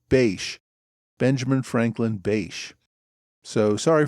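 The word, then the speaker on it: Bache: few varied pronunciations but I think the correct one is Bash Benjamin Franklin bash so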